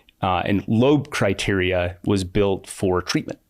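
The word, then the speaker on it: Loeb: I'm like lob or web lobe.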